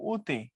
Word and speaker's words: অতি: যেমন লেখার সময় অতি, এটার মূল উচ্চারণ হলো উতি।